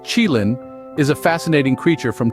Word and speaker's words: qilin: Now, the qilin, pronounced qilin, is a fascinating creature from Chinese mythology.